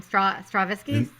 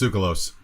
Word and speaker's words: Tsoukalos: Savini and Tasso in, how do you say his name? Stravinsky? No, Tsoukalos. He's That's Greek. how you say that name? Yeah, it's Tsoukalos.